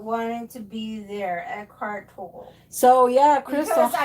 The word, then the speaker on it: Tolle: So yeah, Edgar Tolle. Okay, the power of now. Toll, not Tolly. Yeah, they say Tolle.